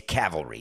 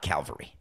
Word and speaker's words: cavalry: It's cavalry, not Calvary.